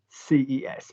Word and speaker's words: ces: or girls say say CES no problem we can remember say because we know May and T and say s s same pronunciation we know the the